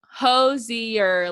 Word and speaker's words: Hozier: she wanted us to pronounce it hosier like cozier is how according to him oh